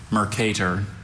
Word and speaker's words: Mercator: Are there any alternate pronunciations? Just the one, Mercator.